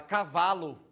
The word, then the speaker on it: cavalo: Aí, por que que a gente acabou de falar que é a palavra cavalo, a sílaba mais forte é o vá.